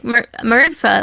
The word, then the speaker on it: Marisa: Like Marissa or Marisa, that's how you say her name, right? Yeah, Marisa.